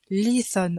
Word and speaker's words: lithon: Le i est un i long. Ce n'est pas pour rien qu'il y a un i long, il faut vraiment le prononcer un petit peu allongé. Lithon et pas lithon. Ensuite, th, comme vous l'aurez remarqué, ça ressemble au th anglais, le th.